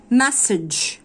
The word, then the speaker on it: message: message message ودي بتنطق ج مش ج, لا ج. message ج ج message يعني رسالة.